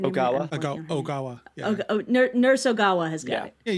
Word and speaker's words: Ogawa: Uh, nurse nurse uh uh Oana's got it. Did I say her name? Oawa. Nurse Ogawa has got it.